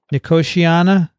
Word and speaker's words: Nicotiana: nicotamia benthiyamiya nakotiana and the koshiyama no koshiyana nicotiana yeah that's it benthamiana i should look at